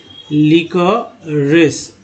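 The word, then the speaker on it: liquorice: लीकरिश, हालांकि RIC राइस होता है, लेकिन लीकरिश उच्चारण करेंगे इसको।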